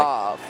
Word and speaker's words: Marth: Like, Moth. It's not Marth, it's Moth. Moth, sorry.